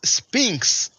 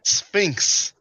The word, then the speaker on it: Sphinx: an idiot he's dumb Sanchez pronounces Sphinx he said it twice Spinks now tell him it is pronounced Sphinx all right now son